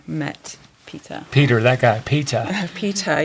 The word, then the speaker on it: Peter: Peter, yes, I pronounced the T. Okay, I know, we don't hear, well, anyway, or the R gets lost, right?